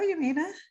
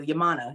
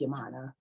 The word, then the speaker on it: Yaminah: healing coach yamina mitchell welcome to the show yamina thank you yamana it is pronounced yamana it's okay i've heard it all kinds of